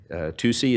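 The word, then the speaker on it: tusi: Another drug that um we're seeing in the state of Arizona is pronounced uh uh TUSCi. It's spelled T USI.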